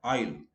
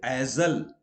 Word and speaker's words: aisle: Aisle, like the passage between two rows of chairs, okay, in a theater or somewhere, aisle. So we don't say azal. It is wrong to say azal.